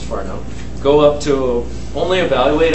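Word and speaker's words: Whanau: Some of the state of the art in terms of developing systems like this, Farnow and Xvine, I know that says Wano, but it's actually pronounced Farnow, go up to, only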